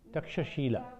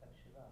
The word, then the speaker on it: Takshashila: Heard that Takshila. Takshila is in Peshawar. When they pronounce in Punjab, they short it in this way. But when we pronounce we call it Takshashila, they call it Takshila.